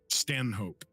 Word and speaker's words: Stanhope: stand-ups in there and you pronounce his name again stand hope s-t-a-n hope s-t-a-n Thug Stanhope okay